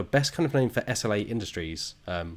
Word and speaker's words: SLA: kind of known for SLA Industries, which I think is normally pronounced Slay Industries, but I can't do that because that's not how it actually looks, and it breaks all my programming to call it that.